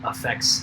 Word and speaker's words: affect: effect so when something affects something else and then there is affect which has this maybe slightly stronger emphasis on that first syllable and is uh the psychology word for outward expressions of emotion so if you ever